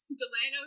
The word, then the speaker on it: Delano: died on it and Delano it actually is nail nail nail like like like the thing that you hammer a nail yeah great I love